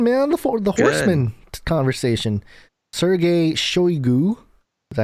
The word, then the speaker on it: Shoigu: Sergei Shoigu, is that how you say it?